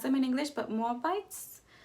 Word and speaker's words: Moabites: them in English but moabites moabitas moabitas it's in Spanish and the younger daughter